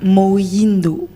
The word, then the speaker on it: Moyindo: Alors, moi si Mouindou. Bonsoir. Bonsoir Yoshi. Mouindou ou Moindo? Moindo.